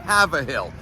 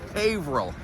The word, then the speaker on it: Haverhill: I can't tell you how many times out-of-towners will say Haverhill. Haver what? Who wants to have a hill? It's not Haverhill, it's Haverhill. Haverhill, correct spelling, H-A-Y-V-R-I-L-L, Haverhill. Let's work on that, let's get it done.